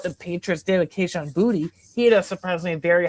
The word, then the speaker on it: Boutte: It is pronounced Boutte, not Booty. Okay, you have to throw the Tay in there.